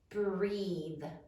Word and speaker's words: breathe: How many syllables are there in breathe? Breathe. 1 syllable. Sound it out. B, r, e, v, silent final E.